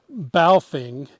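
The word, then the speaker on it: Baofeng: us a ham radio this is balfing b-a-o-f-e-n-g i may be pronouncing that incorrectly it's pretty inexpensive around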